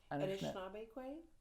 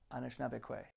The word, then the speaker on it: Anishinaabe: And would you say that a lot of, and I'm sorry, tell me how to pronounce that? Anishinaabe. Anishinaabe.